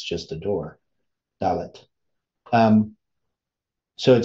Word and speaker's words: Dalet: Adelet, or that's really that how you pronounce the fourth letter of the Hebrew alphabet because it's just a door, Dalet.